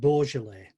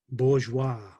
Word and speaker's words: Beaujolais: fry restaurant and a bit of beaujolais which i have mispronounced bourgeois and which regardless the